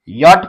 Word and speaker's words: yacht: अब यहां पे सी और एच जो है साइलेंट रहेगा और टी का ट। इस प्रकार से य में लगेगी आ की मात्रा अ की मात्रा और ये हो जाएगा ट। ट जुड़ जाएगा। तो इसे हम यट पढ़ेंगे और इसे हम यो यो पढ़ेंगे।